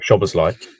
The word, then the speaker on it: Szoboszlai: Like Szoboszlai, that isn't actually how you say his name. It's just we don't have a way of saying it in English that's like close. That's the closest way we have to saying it.